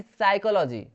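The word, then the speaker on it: psychology: वैसे ही साइकोलॉजी, साइकोलॉजी का मतलब होता है, साइकोलॉजी का मतलब क्या होता है, मनोविज्ञान, यहाँ पे पी साइलेंट है।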